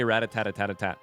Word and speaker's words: Rattata: What about Rattata? Rattata. Yeah, I don't know. That one's confusing. I say ratat.